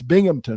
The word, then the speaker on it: Binghamton: normally all right uh the Tiger's open against Binghamton in case you have to tell me that's how you say it it's not it's Binghamton right case yeah you're right okay Binghamton Friday